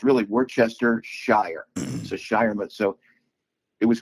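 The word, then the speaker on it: Worcestershire: So, it's Worchester Shire. That's how you say it. Ah, were So, Worchester, England is So, it's So, it's really Worchester Shire.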